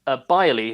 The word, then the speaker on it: Beyrle: Because the thing is, Byerly, his last name is spelled Beyrle, spelled a really interesting way, because his grandparents are German.